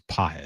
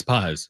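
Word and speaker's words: Pagés: It's not It's not Pais. It's PZ. It's PZ. PZ.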